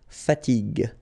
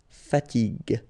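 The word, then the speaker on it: fatigue: uh so as we said here you should pronounce it g g okay so you get the word fatig fatig okay second possibility here you've got this accent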